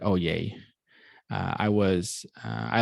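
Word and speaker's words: Oyez: a website called oye even though it's spelled o y e z uh the z is silent oh yay uh i was uh i like to say oh yes even though that's not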